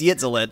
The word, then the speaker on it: Yitzilitt: I was like, oh god, oh no, it's Yitzilit.